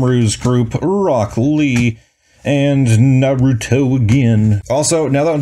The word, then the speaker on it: Naruto: say and they like they over pronunciate like every letter in his name like in the show they called him Naruto that is his name that's the name of the show it's not Naruto like off I hate